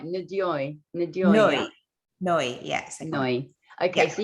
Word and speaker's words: Ndoye: Ndoye.